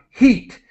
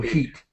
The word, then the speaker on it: heat: This is heat, like the word eat in English, eat, so heat. And we do pronounce the H, enhanced greenhouse effect.